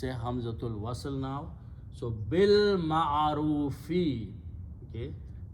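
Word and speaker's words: بالمعروف: So bil ma'arufi. Okay, it's in the Quran. You just combine ba with the lam and pronounce with the lam and leave alif there.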